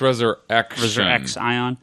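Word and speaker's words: ResurrXion: post IV x thing i think it's pronounced resurrection x ion right x on we now know much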